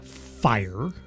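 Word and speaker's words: Phyre: Um you are playing a vampire called Fire. You don't get to change your name. Uh, it's spelled P H Y R E because that's cool, you know, because it has to be.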